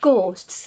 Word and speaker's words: ghosts: so the spelling of ghosts is g h o s t for one ghost and then you put the S on for plural but you don't pronounce that H pronunciation ghosts so it's